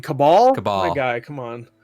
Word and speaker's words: Cabal: really quick, Gore, was Kabul. Say again. Kabul. Kabul? Is that how you say it? Kibble. Kibble. No, you mean Cabal?